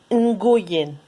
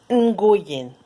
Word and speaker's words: Nguyen: Nguyen.